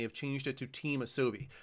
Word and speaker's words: Asobi: Team Asobi, I believe, is how you say that correctly.